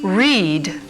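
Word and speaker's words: rēad: Re, meaning birth, is the root of red, pronounced reed in Old English.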